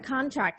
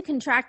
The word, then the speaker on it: contract: shifting the syllable stress for the noun or adjective the stress is on the first syllable and for the verb the stress is on the second syllable notice that when you stress the second syllable in the verb you must destress the first syllable down to a schwa and uh to prepare for the strong stressed syllable produce got it let's